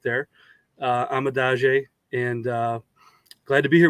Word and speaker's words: Kiran Amegadjie: The pronunciation, Kiran Amegadjie, that's the name. That's how you pronounce it. So you were close. You were right there, Amegadjie, and glad to be here with you guys.